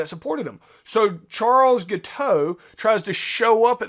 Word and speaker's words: Guiteau: uh show up so charles guiteau i've heard it pronounced giddy a guiteau is more accurate based on anyway so charles